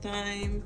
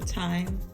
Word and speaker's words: thyme: Then we'll add in thyme or thyme, as you guys have told me. I don't know why that's pronounced like that. I guess the H is silent, but I like thyme better.